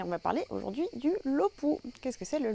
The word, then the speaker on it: low poo: On va continuer dans cette série de vidéos sur les définitions et on va parler aujourd'hui du LOPU. Qu'est-ce que c'est le LOPU? Alors, le LOPU, donc ça s'écrit L-O-W plus loin P-O-O, de l'anglais.